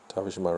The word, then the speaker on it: Tavishima: The name is Tavishima. Tavishima rhymes with Hiroshima.